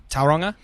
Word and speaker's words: Tauranga: hard to say yeah did I say it wrong yeah you said it wrong okay how do you say it Tauranga Tauranga yeah and even then I'd